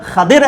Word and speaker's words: خضر: ہم دیکھتے ہیں حضرت خضر علیہ السلام، یا درست تلفظ کے اندر خضر علیہ السلام، وہ فرشتے ہیں یا وہ انسان تھے؟